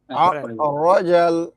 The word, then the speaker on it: أخرج: والذي أخرج المرعى রজা ভাই আবুল কাশেম ভাই রজাল أخرج আখ না ভাই একটু খর টাইপ উচ্চারণ হবে হ্যাঁ أخرج মারআ المرعى والذي أخرج